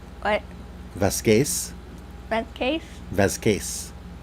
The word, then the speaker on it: Vasquez: It's because her last name is Spanish, so it would actually be pronounced Vasquez. What? Vasquez.